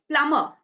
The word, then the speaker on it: plumber: plumber plumber it's not it's not plumber it's plumber plumber B goes silent okay can you see